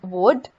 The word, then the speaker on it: would: Similarly, it's could and would. Again, L is silent in both of these words.